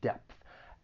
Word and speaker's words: depth: of and then just just keep in mind depth it ends with that voiceless th it's very slight but you should pronounce that voiceless th depth out of your depth